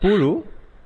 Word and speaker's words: Puzhu: you're talking about pulu hopefully the pronunciation is right no no no it's not right actually i got a comment on my channel that you are one of the rare ones who got it right so it's supposed to